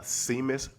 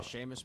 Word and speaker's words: Seamus: Uh, Seamus Power, uh, that's his name. Yeah. Yeah. Yeah. Uh, Sheamus Power. Yeah. Oh, said it wrong.